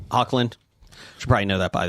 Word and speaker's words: Hoechlin: name is spelled. I Ty don't know it. Hocklin, was it? Yeah, Hocklin. Hoechlin.